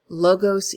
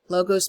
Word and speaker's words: logos: Aristotle's rhetoric, his famous logos, ethos, and pathos. I choose the American pronunciation of that because I don't speak Greek. I think it would be logos, pathos, ethos. But tomato, tomato, right? Logos, pathos, and ethos for me.